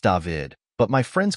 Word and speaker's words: David: It is pronounced David, but my friends call me Dav.